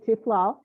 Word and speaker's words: Tiffiloh: at temple beth haritay tiflo law it rhymes with tequila oh well good in